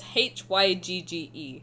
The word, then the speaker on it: hygge: No, the concept is hygge, which is Hygge. Apparently it's pronounced hygge. I don't know, I don't speak Danish.